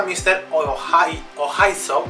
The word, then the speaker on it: Mr. Oizo: Muy buenas, Charlie XCX acaba de anunciar un EP que va a protagonizar junto a Mr. Ohaiso, creo que se pronuncia así, que es un productor francés, un artista francés, también es director de cine.